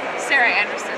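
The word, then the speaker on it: Sarah Andersen: What is the right pronunciation? Sarah Anderson.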